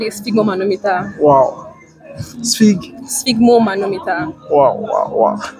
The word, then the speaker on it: sphygmomanometer: Sphygmomanometer. Sphygmomanometer. All right. So spell it.